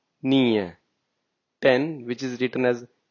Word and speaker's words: nio: So now if you say 9, which is written as neo, but we say it nie.